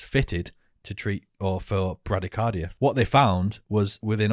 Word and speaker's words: bradycardia: there's something called i i read it as bradycardia but i think it's pronounced bradycardia right yeah it's a heart